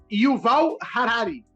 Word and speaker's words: Yuval Harari: Pronúncia certa. Yuval Harari.